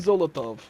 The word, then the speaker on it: Zolotov: Zolotov. Yeah, Zolotov. it kind of rhymes with Molotov.